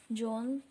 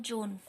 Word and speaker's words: Juan: Students, today we will read our next chapter, John Bobo's Sport. Okay, so let's start. Now read this story and answer the questions that follow. John Bobo lived in Puerto Rico. Well, his name was John.